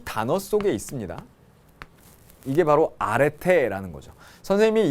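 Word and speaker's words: ἀρετή: 뭐라고 읽는다고요? 아레테.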